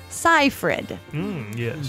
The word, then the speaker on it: Seyfried: birthday to Miss Amanda Seyfried. Yes. I made even sure that I said it right. That everybody just they always say wrong, but it's Seyfried. They even said that on IMDb.